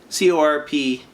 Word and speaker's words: corpse: at the tortured souls ova for corpse party c-o-r-p-s-e corpse if it doesn't have an e it's pronounced core so i've noticed a lot of